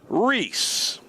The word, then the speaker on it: Rees: Pronounced Reese, but It's my wife's maiden name, Reese.